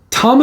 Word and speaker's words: Tama: Tama is actually spelled Tamashii for Western eye. If you look at it, it looks like it's spelled Tamashii, but it's actually pronounced Tama.